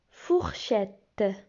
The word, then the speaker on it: fourchette: Fourchette. Fourchette. E-T-T-E se prononce et. Fourchette.